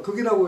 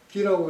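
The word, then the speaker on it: 亟: 목공은 자사에 대해서 말이지 자주 문안을 하고 요거 같은 글자가 극이라고 읽으면 급히 재빨리 이런 뜻이고 기라고 읽으면 자주입니다. 말을 거꾸로 했네. 아니 그 거꾸로가 아니라 그러니까 급히라고 할 땐 극이라고 읽고 자주란 뜻일 때는 기라고 읽는다 이런 이야기입니다.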